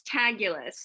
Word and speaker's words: Taguilas: correctly for me no it's tagulous it writes you fabulous okay great um but it looks like it looks like Tequilas like the word tequila and so we'll say